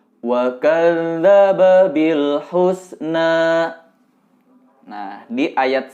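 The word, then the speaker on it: وَكَذَّبَ: Yang pertama, wa kadzdzab dal titik alias zal, cara membacanya itu dibacakan saja bunyi da, tapi sebelum melafalkan da, terlebih dahulu lidah ditempel di gigi seri atas.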